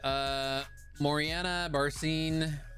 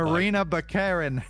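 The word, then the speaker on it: Morena Baccarin: Moriana Barcine, who portrayed Vanessa in the You first two. totally just said Look, that name wrong. I'm white as fuck. Marina Baccarin.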